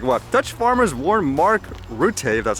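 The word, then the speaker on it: Rutte: more pictures like what dutch farmers warn mark rutay that's how you say it the protest will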